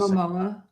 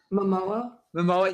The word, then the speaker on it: Momoa: I can never pronounce his Momoa. What was that? Momoa.